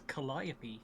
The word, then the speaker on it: Calliope: a bit now okay oh hey we're pronouncing that completely wrong oh i'm aware it's calliope i i know i'm